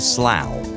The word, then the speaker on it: Slough: Lauren for your email cough rough and Slough where you are streaming from that's true cough see ough rough ro ug H Slough SL Oh ugh pretty much the same words aren't they with just different starting letters and yet coughed rough Slough they're nothing like they should be if you were to look at one and compare it to the other choose Lauren Drivetime with